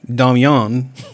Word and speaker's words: Damien: My husband Damien, pronounced Damian.